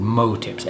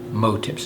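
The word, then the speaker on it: MOW tips: flies you want these level type tips called mo tips mo w some people say now but again mo tips is the correct pronunciation and these are this is one is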